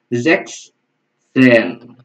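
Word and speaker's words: sechzehn: Zex Zen. Oke, Zex Zex Zen. Jadi kalau misalnya teman-teman agak bingung cara pengucapannya, satu-satu aja ya. Zex, habis itu ngomong Zen.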